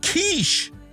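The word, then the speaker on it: quiche: It's pronounced kiche.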